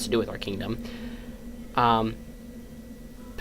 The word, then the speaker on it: Ptah: Ptah. I always want to say path, but I say Ptah.